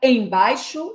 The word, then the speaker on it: embaixo: Qual é a sílaba tônica? Você percebeu que é o bai? Embaixo. Se bai é a tônica, eu já sei que esse em é átono, é fraco. Eu prolongo mais na segunda sílaba.